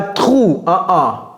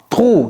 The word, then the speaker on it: through: Ok, d'abord, c'est pas true, Through, no, no, no. Through. You see my tongue? You see my teeth? Through. Ok, c'est pas trug.